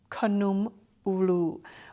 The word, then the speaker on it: Kanoom Ooloo: Kanoom Ooloo, which is how you say it in my native tongue, the Lao language.